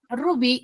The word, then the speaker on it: rubí: En donde recae la mayor fuerza de voz es en la segunda sílaba, que es bi, ¿no? Entonces, bi, ¿dónde se encuentra ubicado? En la sección de la A. Por ende, si su sílaba tónica está en la sección de la A, yo voy a decir que rubí es una palabra aguda.